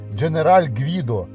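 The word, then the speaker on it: General Guido: тобто якогось там Генерала правильно вимовляти женераль Гвідо і він не якийсь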